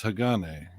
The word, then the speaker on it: Hagane: sagane Saigon a uh pronounce it correctly is that classic Ninja Gaiden no it's Hagane it's uh it used